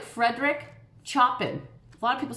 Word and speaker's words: Chopin: pen so think of the word show like you're watching a show on TV and a pan that you cook with show pan can you stay with me Chopin now say it a one syllable or one phrase Chopin Chopin that's how he said